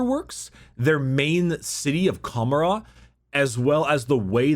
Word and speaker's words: Commorragh: I think it's just Commorragh. I think you ignore the G.